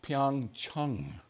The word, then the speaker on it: Pyeongchang: Pyeongchang kindred which is actually supposed to be pronounced Pyong Chung the Chang actually pissed off some Chinese for